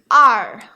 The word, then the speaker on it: 二: R, you have a little R sound at the end. Yeah. 二 So note here that the sound changes. It's not it's r.